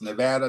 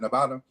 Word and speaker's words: Nevada: by the way I come from aate where pronunciation matters it's Nevada not Nevada Nevada you might get upcharged and it a